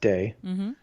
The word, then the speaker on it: Te: please yep t-a-o pronounced dao t-e pronounced day and ching which is c-h-i-n-g oh